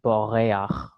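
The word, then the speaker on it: בּוֹרֵחַ: So what we're going to do is we're going to just throw in what is called the furtive patach, and that's pronounced before the chet actually. So it becomes boreach, notea, rakia, ruach.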